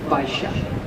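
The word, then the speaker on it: Baixa: the most prominent boulevard in the area of Bisha. Oh yeah that's spelled B A I X A Bisha.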